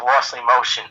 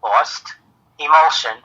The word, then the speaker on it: Lost Emulsion: Yeah, people often think Lost Emotion. Yeah. So it's LOST, Lost Emulsion, as in film, EMULSION.